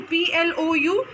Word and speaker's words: ploughing: Wherein here ploughing, G is silent, students. Okay, so P-L-O-U-G-H-I-N-G. You need to write G, but G is a silent word, so you have to pronounce it as ploughing.